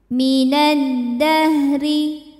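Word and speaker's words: مِنَ الدَّهْرِ: Selanjutnya ada hukum alif lam qamariyah, alif lam syamsiyah maksudnya ya. Sebab alif lam menghadapi huruf syamsiyah yaitu dal. Cara bacanya alif lam tidak kita baca atau disebut dengan idgham syamsi.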